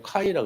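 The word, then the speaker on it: Χ: 들어 봤대요 저번에도 말씀드렸지만 마스가가 아니에요 카이라 그래요 카이 헬라 말로 카이라고 읽어야 돼요 그래서 카이의 발음 때문에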